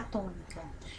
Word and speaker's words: tônica: Se nós fôssemos trabalhar só essa palavra aqui, sílaba, qual delas é a tônica? Presta atenção na sílaba, menino.